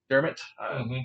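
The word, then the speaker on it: Dermott: toronto maple leafs for travis vermont dermot is how you say it sign for a couple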